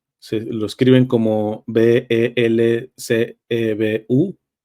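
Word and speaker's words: Belcebú: e b u l belul o belcebu nada más con acento en la u primero hay que decir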